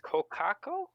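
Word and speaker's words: kōkako: Neil, how do you pronounce that name? It's the South Island. Kokako.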